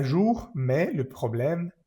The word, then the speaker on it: problème: Problème, esta E al final de la palabra problème no se pronuncia.